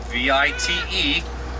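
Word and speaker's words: wyd: And the Afrikaans word for wide, V-I-T-E, pronounced vite, it's been mistranslated all these years, so we should call him the white rhino.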